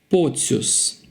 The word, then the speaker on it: Pocius: So it's soft C-I-U. It's soft U. If we have this I-U, we pronounce as Ciu. So Pocius, Pocius. So usually this kind of surnames, the endings are pronounced softly, like Pocius.